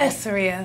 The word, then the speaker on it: Essoria: Essoria.